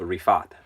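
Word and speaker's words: Riphath: there's the the pronounce the annunciation key is a Refaat okay second the second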